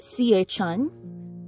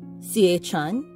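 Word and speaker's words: siječanj: of january and february the pronunciation of the j is like a yeah sound like y and then the c with the accent is cha like ch and uh to my knowledge i believe the j at the end of the months date of the of the months names of the month is silent so january is pronounced sie chan cie chan and then the month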